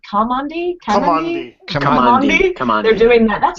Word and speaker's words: Kamandi: Kamandi.